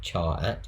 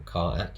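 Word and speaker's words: charAt: us find the character it's called char at or car act depending on how pronounced it um this is a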